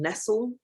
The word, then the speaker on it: Nestle: Food Politics by Marion Nestle, which is spelt like Nestle, but without the E on the end.